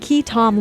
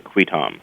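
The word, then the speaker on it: qui tam: with entertainment attorney and Key Tom Law lawyer, Mychal Wilson of MindFusionLaw. Am I saying that right, Key Tom? You can say Key-Tom or Qui-Tom. Qui-Tom. Pronounced various ways.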